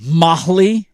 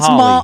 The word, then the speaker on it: Mahle: Mahle? Yeah. Molly or I think Mahali? I think it's Molly. Okay. I think is how you say it.